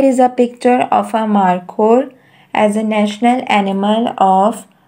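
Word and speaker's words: markhor: the answer is marco how to pronounce the national animal of pakistan mar ko m-a-r k-h o r marco m a r k h o r marco is a national animal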